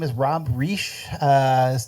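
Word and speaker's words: Reich: his name is Rob re uh not Robert R although it's spelled the same way um he goes by Rob and says call me re that way you don't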